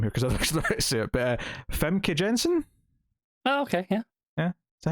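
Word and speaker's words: Famke Janssen: butchering her name here because i see it femke jensen oh okay yeah yeah that's how you say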